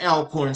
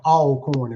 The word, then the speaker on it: Alcorn: Um, what was it like being a division one athlete at Alorn State University? So, a northerners uh usually uh pronounce it alorn. We call it all corn and we always say always corn.